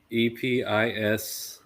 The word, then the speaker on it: epistrophe: I think it's actually pronounced apostrophe. EPISTROPHE.